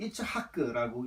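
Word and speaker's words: יצחק: 그리고 두 번째로 이삭, 히브리어로는 이츠하크라고 읽는데요.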